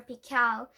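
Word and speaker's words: Pickell: Actually, his name was Dr. Pickle, which the accent on the second syllable.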